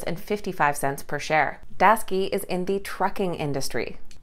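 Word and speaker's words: Daseke: on our list today is a company called daski and i know that it does not look like it's pronounced that way based on how it's spelled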